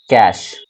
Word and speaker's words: cache: सबसे पहले अगर प्रकार की हम बात करें तो वो है कैश मेमोरी। इसको हम लोग कैश पढ़ते हैं, कैश। ठीक है, स्पेलिंग होता है CACHE, कैश।